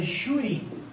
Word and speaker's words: júri: Agora, se eu estiver diante da palavra júri, por que na palavra júri eu tenho um acento aqui no U? Bom, a sílaba tônica, vocês concordam que é a penúltima, é o ju, né?